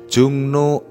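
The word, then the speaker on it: 종로: kalau pergi ke kiri jungno EMP ga EMP dibaca sa jungno Saga imnida ini juga nama tempat jungno Saga tulisannya J ro bacanya Jung no jungno Saga imnida Apakah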